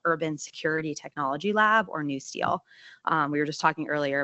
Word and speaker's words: NUSTL: It's called the National Urban Security Technology Lab, or NewSteel. We were just talking earlier about how people are serious about their abbreviations. NewSteel is like NEW-Steel. That's the correct way to say it.